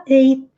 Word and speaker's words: ate: vai ficar A-T-E, A-T-E in English, se fala ate, e é o passado. Comi, comeu, comeram, e é a mesma pronúncia.